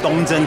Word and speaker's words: Dong Zen: right Temple did I say it right it's dongjen Temple in then where's this place this is